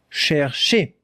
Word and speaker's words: chercher: That is the sound R, that is the sound sh, and that is the sound E.